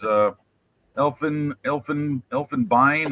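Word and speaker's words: Elfenbein: Elfenbine I guess is how it's pronounced in German because you got the e i n and then ivory right next to it.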